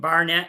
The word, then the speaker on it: Barnet: who don't even know where the community of Barnett is where is it well uh first I'll